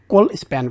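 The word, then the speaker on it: colspan: কি এখানে বলতে হবে কল স্প্যান বলতে পারো কোল স্প্যান এসব উচ্চারণটা মনে রাখতে পারো তাহলে আনসার হচ্ছে এক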